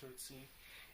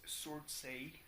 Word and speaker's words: Surtsey: You know, like the island of Surtsey, which is not pronounced Surtsey, it's Surtsey. But Surtsey rolls off the tongue in English because that's how it's written.